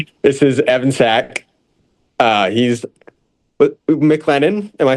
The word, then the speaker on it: McLennan: He's McLennan. Am I saying it right? Yep, McLennan Junior College.